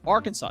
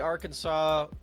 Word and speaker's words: Arkansas: name and you're like why are they saying arkansas uh and not arkansas well that's because america is just kind of like that you know uh sometimes the s is silent um luckily the s